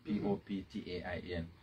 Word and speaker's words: Poptain: real property in everywhere p-o-p-t-a-i-n and you pronounce it as poptain and you can always